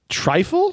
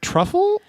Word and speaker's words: trifle: Trifle? Is that truffle? It's spelled with an I. I don't know. Trifle something different. Yeah, it's trifle. It's like in a bowl and it's looks like a yogurt.